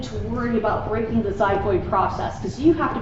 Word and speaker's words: xiphoid: this is called the xiphoid process it's spelled with an X so it's a xiphoid process now one of the